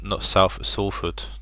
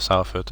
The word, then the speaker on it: Salford: taking on Tommy's Salford, apparently is how you pronounce it, not Salford, Salford. I was corrected by Matt the other day, he's from Manchester, so he knows better. Then it's Salford, not Salford, even though it's spelt Sal, but he Northerners. So yes, UCD and Steve taking on Tommy's Salford.